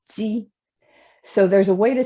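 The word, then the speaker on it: 鸡: In Mandarin, we pronounce it ji.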